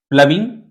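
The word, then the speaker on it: ploughing: प्लविंग, ध्यान दीजिएगा, इसका प्रोनाउंसिएशन क्या है? प्लविंग, प्लविंग, प्लविंग। स्पेलिंग जो भी है उसका प्रोनाउंसिएशन कुछ और होता है, तो प्लीज गौर कीजिएगा प्रोनाउंसिएशन पे भी।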